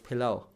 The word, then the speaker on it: pilau: So people will actually say pilof, but it's pilau.